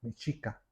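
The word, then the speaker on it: Mexica: La palabra México es una mala pronunciación los españoles de la palabra mechica.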